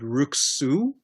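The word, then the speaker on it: Ruxue: the name wrong but rook sue on wikipedia the name is spelled r-u-x-u-e this is the character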